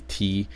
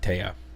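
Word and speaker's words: Téa: I only know Taya because like her name is literally T, but they put an accent on the E, so it's Taya instead of T.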